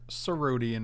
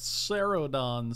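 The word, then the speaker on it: Cerodon: and then we're going to put a desert serodian in there it's pronounced ceredon stupid well that's rude should have actually cycled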